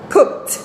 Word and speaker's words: cooked: Aquí tenemos cook en el presente, así se escribe en el pasado, y aquí así es como se pronuncia en el pasado, cooked.